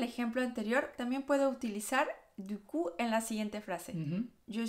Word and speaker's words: du coup: Y el segundo conector, la verdad es que se escucha mucho más y es du coup. Sí, du coup. Du coup. La P final no se pronuncia.